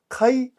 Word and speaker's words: kai: Kai is a three-letter word. This is spelt k a i.